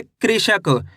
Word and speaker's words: कृषक: कृषक।